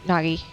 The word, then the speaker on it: Nagi: see why you're on Naji short list so it Nagi I I said his name wrong so if you ever